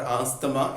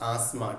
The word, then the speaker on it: asthma: It is not asthma, it is asthma. TH is silent.